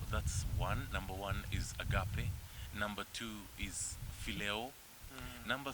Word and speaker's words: agape: the greatest is agave people call it agape but i call it agape that i got the pronunciation of that word from the greek language agape and that love